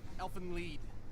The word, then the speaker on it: Elfen Lied: Elfen Lied. It's German. Oh. Yeah, whatever. So that's how you pronounce it.